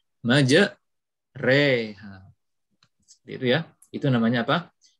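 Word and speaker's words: مجراها: lafadz ini ngejar oha asalnya majroha tapi kita membacanya Maja reha itu ya itu namanya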